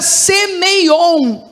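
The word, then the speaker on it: σημεῖον: vezes é a palavra semeion. Tá bom? Para quem tá anotando, você pode escrever como pronuncia, só que termina com a letra N, tá bom?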